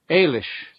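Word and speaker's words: Ailis: non-stupid guesses but does anybody get a point Alish Irish version of the normal Alice or Alicia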